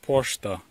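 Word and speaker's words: пошта: They just painted in Ukrainian letters poshta. So it's spelled P-O-Sh-T-A in Ukrainian and P-O-Ch-T-A in Russian.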